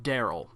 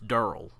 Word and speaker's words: Daryl: And he says, you don't say it Daryl. It's not Daryl, it's Durl. Durl.